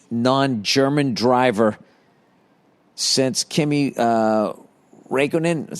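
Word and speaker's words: Räikkönen: the first non-english non-german driver since kimmy uh raikkonen is how you say his name it's only a legend who retired today in 2007.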